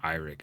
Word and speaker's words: Eirik: I mean, the actors' names, but Christine Kuya-Thorpe and Eric Seether. And I think it's actually pronounced Eirik.